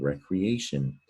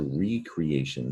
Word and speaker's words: recreation: And is that crete rhymes with eat, or is it cree? I think this is the word recreation, which is a noun, but it's also recreation. This is 2 words in one.